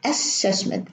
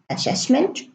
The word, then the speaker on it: assessment: assistant and a section they would say assessment assignment as system assumption no this is wrong pronunciation it should be assessment one s brunnen it's pronounced with one s assignment assistant assumption in